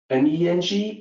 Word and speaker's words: Meng: It's M-E-N-G, but it's actually pronounced more like M-O-N-G, Meng.